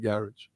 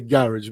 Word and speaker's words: garage: And notice I say garage because that's how they say it. They don't say garage. We're used to saying garage, because of Paradise and all that. But in the UK, it's garage.